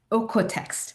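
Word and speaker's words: OEKO-TEX: Okex. So it's pron it's spelled o e k o text.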